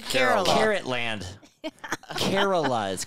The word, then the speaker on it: Kerala: in Canada anyways brother you didn't even say it right you said carita I said Carol carrotland Kerala is called I said